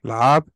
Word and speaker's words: Lahab: Lahab?